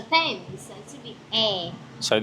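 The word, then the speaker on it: Thames: I say the themes but actually it should be the temps. The temps.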